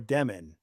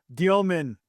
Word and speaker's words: Dëmin: Uh, we do need to clear something up because for almost a full year, I and others were calling you Jaor Demen. But then there was this revelation that your last name is actually pronounced Domen and it was like